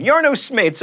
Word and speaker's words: Jarno Smeets: Now I get to show off my Dutch pronunciation. Jarno Smeets uploaded a video to YouTube in March of 2012, but this wasn't like, babies licking fingers or cats playing keyboards.